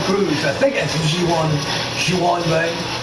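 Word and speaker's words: Ji-hwan Bae: I think that's giwan giwan Bay I think that's how it's pronounced I'm going listen to here see how the announcer says his name yeah I was right he must I believe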